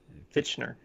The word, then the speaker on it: Fichtner: Fichtner.